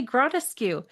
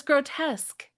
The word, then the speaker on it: grotesque: No it was grotesque grotesque. But he'd only read the word in reading. He'd never heard it pronounced. And so he read it gratuscu.